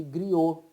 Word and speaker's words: griots: por grupos chamados de griots, os griots, né? Que em português se fala griot, se escreve griots, tá?